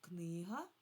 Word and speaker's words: книга: Коли ми кажемо в множині, тоді наголос падає на и, на и, на другий склад падає наголос книжки. А от коли я кажу книга, тоді на перший склад книга.